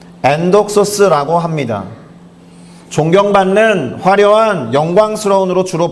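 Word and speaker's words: ἔνδοξος: 발음은 엔독소스라고 합니다.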